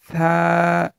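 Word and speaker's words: ثاء: তারপরের হরফটি সা, সা, সা। হরফটি পাতলা হবে, মানে হরফটি নরমভাবে উচ্চারণ করতে হবে।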